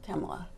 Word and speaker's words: Kamala: position are you saying kamla or are you saying camela I say kamla because I don't say